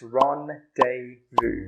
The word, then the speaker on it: rendezvous: So how do we pronounce this word again? It's rendezvous.